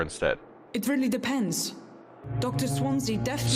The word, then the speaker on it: Swansea: Swansea definitely Swansea. works his society contacts for money. That's how you pronounce But it.